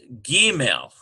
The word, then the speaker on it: gimel: This one here, we've got Gimel, G-E-E-M-E-L.